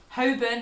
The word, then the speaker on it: Holborn: Holborn has got a silent L, much like other words like salmon, almond.